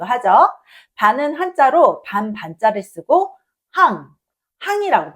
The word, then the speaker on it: 半: 반은 한자로 반반자를 쓰고 항 항이라고 발음해요.